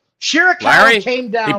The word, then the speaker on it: Shirakawa: Shirakawa came down. He pronounced it correct, Larry.